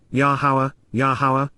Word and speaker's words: Yahweh: Indeed, Yahweh, the proper pronunciation of the name of Eloah, God has directed in